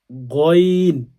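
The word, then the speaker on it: غين: সহ শুদ্ধ করেন পড়বেন গাইন বলবেন না গন এই হরফটা 1000 বার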